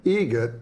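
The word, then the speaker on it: Eget: It's a joke, an Adam Egret joke. How do you say the name? Adam Egret. Egret. Spelt differently. Like the bird.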